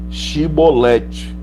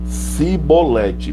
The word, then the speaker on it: Chibolete: lhe diziam 15 pois chevrolete porém ele dizia que está acompanhando cebolete preste bem atenção eu disse pois chevrolete porém ele dizia cebolete porque não podia pronunciar bem então pegavam dele e